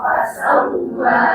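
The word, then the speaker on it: فسوى: Fasawwa. Wa-nya panjang. Wa. Baik. Alladzi khalaqa fasawwa. Alladzi khalaqa fasawwa.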